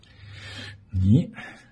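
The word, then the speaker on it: 你: Ni. C'est facile. C'est un ton descendant puis montant.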